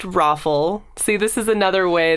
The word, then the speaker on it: ROFL: back okay ah FL it's pronounced rofl see this is another